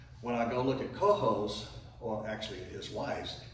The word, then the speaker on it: Coho: The word Coho in Spanish means lame, and because Americans don't pronounce a J like that, then he changed it to C-O-H-O for Coho.